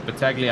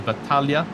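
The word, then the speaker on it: Battaglia: And he's got Bataglia up in front or I believe as the family wants us to pronounce it as Batalia, which is the the actual pronunciation of it, which uh I got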